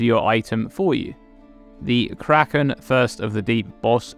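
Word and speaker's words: Craiceann: Kraken first of the deep this word is pronounced Kraken this is the Irish word for skin but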